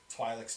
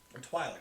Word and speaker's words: Twi'lek: The Twi'leks needed help fighting them off, and so they sort of reluctantly let the clones come in to assist with that.